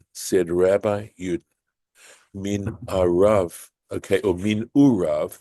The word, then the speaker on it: מנעריו: Amar Rabbi Yud, said Rabbi Yud, min arav, okay, or min urav, this word which is pronounced min urav, from his youth.